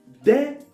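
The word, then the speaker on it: des: a they got a unique plural which is d of course i'm writing v with s okay but i'm now pronouncing the s so the s is mute all right for example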